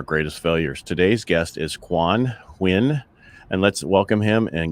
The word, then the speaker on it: Quan Huynh: comes from our greatest failures today's guest is quan win and let's welcome him and get to know